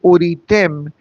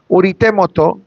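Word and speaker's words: וּרְאִיתֶם: Because if I don't pause after the word uritem and I say it quickly, uritemoto, you know what it means? And you will see his death.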